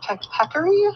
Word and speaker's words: peccary: They're from the, how is it pronounced? Peccary?